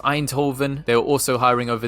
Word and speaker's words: Eindhoven: And over in the Netherlands with our Dutch brother and sisters, I think this place is pronounced Eindhoven.